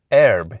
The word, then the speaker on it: herb: Erb is how Noah Webster says it should be pronounced. But he acknowledges that millions, he literally uses the word millions of people in America are saying something like arb, with a more open front vowel.